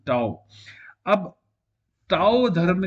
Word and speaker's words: Tao: भी कहते वर्सत है यह है टाव टी ए ओ ताओ अब ताओ धर्म जो